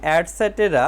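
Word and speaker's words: etc.: বর্ণটি বড় হাতের হবে ইটিসি এর উচ্চারণ অ্যাডসেটেরা মানে ইত্যাদি এভাবে অন্য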